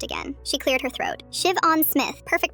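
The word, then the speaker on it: Siobhan: Shiv-on Smith. Perfect pronunciation.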